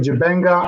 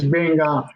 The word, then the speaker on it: Benga: to the Western world, people mispronounced my name Jibenga, Abenga, Benga, Abongo, Benga. Jibenga. And I find it so difficult trying to explain that my name is Benga.